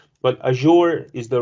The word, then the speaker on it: Azure: So some people say Azure, some people say Azure or Azure, different pronunciations. But Azure is the right pronunciation, as Microsoft experts said that.